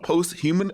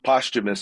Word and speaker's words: posthumous: It's called posthuman. How do you say it? I think it's posthumous. Posthumous. Posthumous. There we go.